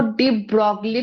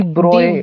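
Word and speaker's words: de Broglie: जैसे वो डी ब्रॉगली है ना, वो डी ब्रॉगली प्रोनाउंसिएशन नहीं डी है, डी ब्रोए, डी ब्रॉय ब्रोए, है। हाँ डी ब्रोए है।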